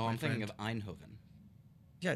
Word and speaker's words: Eindhoven: I mean, obviously, this is just a demo that they're showing off at Eindhoven. I think that's how you say it. It is. It is. I was there this summer. Eindhoven.